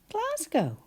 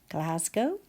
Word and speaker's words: Glasgow: about and that is Glasgow. How many syllables? class go g a and you're quite right it does sound like z but we write an s and then g o